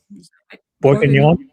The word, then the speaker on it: Boeuf Bourguignon: Boeuf Bourguignon.